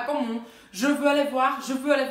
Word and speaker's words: je veux: Porque você vai precisar falar ele para conseguir fazer a pronúncia dessas duas frases. Então, je veux aller voir le film.